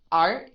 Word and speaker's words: art: the word is art art do you hear the T sound no you don't right because it's not aspirated it's at the end of the word it's not aspirated art